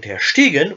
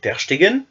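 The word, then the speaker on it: ter Stegen: mis le symbole phonétique le ST lui aussi constitue un piège car il ne se prononce pas Ste mais chte comme pour le gardien du barçac Andre tersteen ou Marc andreé tersteen ou aussi chez Bastian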